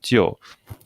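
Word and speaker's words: 就: really just saving the first part of the pronunciation. This is the very, very familiar word jiu, okay, which means only, okay.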